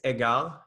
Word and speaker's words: Egard: super cool and and agard that's how you that's how you pronounce it right well it's it's a french word it's so it's egal is the right way but we call it edgar yeah edgard watches um